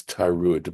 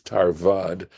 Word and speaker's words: tarad: and for some reason I pronounced this word right here this word right here as tud but it is tarad and I'm sort of